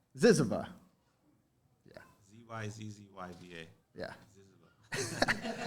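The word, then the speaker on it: ZYZZYVA: Recent work you can also find his work at this journal, the literary journal, it's hard to pronounce this, Ziziva. Ziziva.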